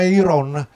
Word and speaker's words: eiron: ironia micidiale e non è una parola che viene dal greco e si pronuncia heiron e significa colui che